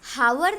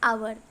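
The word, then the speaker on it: hour: तो H silent है, इसका मतलब हम उस वर्ड को अगर प्रोनाउंस करेंगे तो एच को साइलेंट रखेंगे, यानी ओ यू आर ही प्रोनाउंस करेंगे, तो वो हावर नहीं होगा, वो होगा आवर, एन आर.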